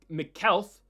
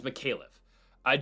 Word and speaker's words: Micallef: Jonathan Micallef. I know that's wrong. Taking on Oban Elliott. Micallef. It's Micallef. Jonathan Micallef taking on Oban Elliott.